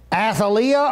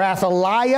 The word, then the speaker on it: Athaliah: So according to 2 Kings chapter 8, verses 18 and verse number 26, Athaliah or Athaliah, I saw people pronounce it differently as I studied this out, was the daughter of Ahab, king of Israel, thus the granddaughter of Omri.